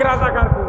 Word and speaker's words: রাজাকার: দিয়া কেন কাক রাজাকার ফাইজলাম রাজাকার এটা আমাদের তোকমা নয় এটা রাজাকার এটা ডিগ্রি আমরা ডিকশনারি পরে দেখেছি রাজাকার শব্দের অর্থ হলো এটা উচ্চারণ হবে রেজাকার রেজাকার শব্দের অর্থ হল